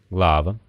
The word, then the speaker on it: глава: Итак для ударных гласных есть четыре варианта долгий восходящий глава короткий восходящий вода долгий нисходящий сунце и короткий нисходящий песма сейчас большинство носителей не